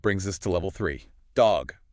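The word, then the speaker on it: dhog: Dog, pronounced D H O G. D H O G. Dog.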